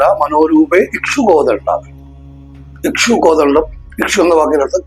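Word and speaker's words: മനോരൂപേക്ഷുകോദണ്ഡ: മനോരൂപേഷു കോദണ്ഡ എന്ന് ജപിക്കുന്ന ഒരുപാട് പേരെ കണ്ടിട്ടുണ്ട്. മനോരൂപേഷു കോദണ്ഡയല്ല, മനോരൂപേ ഇക്ഷു കോദണ്ഡ.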